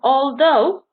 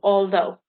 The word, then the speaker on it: although: hear the tha and although gh is silent because over here is the a-l-t-h-o-u although and then a few